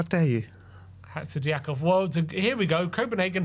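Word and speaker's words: Hatzidiakos: Oh, it's Hatzidiakov. That's how you pronounce it. So poor. How dare you? Hatzidiakov.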